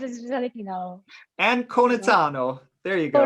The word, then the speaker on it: Anconitano: It's Anconitano, so it's Anconitano, and basically it's Anconitano. So you don't change the A in E.